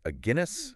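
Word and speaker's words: Aguinis: this really cool article it's by a Guinness a Guinness yeah like uh rhymes with Guinness the beer okay I got it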